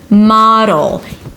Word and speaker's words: model: Model. The O is the /aa/ as in father /maa/ and then it's a D that shifts immediately to the L.